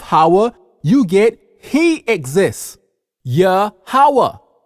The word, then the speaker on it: Yahweh: Yahweh. Yah means he, Hawa means exists. Yahweh, he exists.